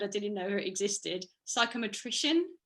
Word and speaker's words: psychometrician: Psychometrician, is that right? Is that how you say it? Yeah. In South Africa they say psychometrist, I think, but psychometrician. Yeah, I like it.